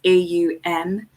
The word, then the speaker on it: Om: So the letters in that of kind of how it's pronounced is AUM, but it's usually seen as OM.